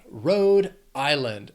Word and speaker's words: Rhode Island: 3 syllables, stress is on that, the first syllable of the second word, island, Rhode Island.